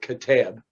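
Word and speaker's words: Qeteb: but it's pronounced k-e-h-t-e-b with the emphasis on the last syllable catab but he began using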